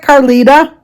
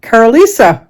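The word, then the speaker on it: Karlisa: first name right it's not carita it's car Carisa k a r l i s a Carisa see why couldn't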